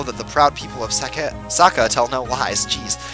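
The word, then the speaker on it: Sacae: In Japan, it definitely is pronounced Saka, so that's what I'm going to go with.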